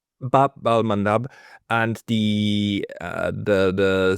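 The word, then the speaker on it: Bab al-Mandab: I was mispronouncing. Bab al um Madab Babal Mandab and the uh the the Saudis now got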